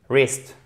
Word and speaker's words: wrist: Donc, comment vous prononcez ça, qui signifie le poignet, wrist, ok? Donc, vous ne prononcez pas le W, et ici, vous avez un I court.